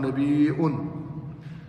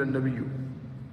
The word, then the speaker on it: نبيء: وانزله هذا المقام الرفيق ونبي في الاصل فعيل واصلها مهموزه قالوا نبيء وهذا هو الاصل ولكن لصعوبه النطق بالهمزه بعد الياء سهل قلب الهمزه ياء وادغام الياء في الياء فقيل النبي وجمهور القران يقراون بقلب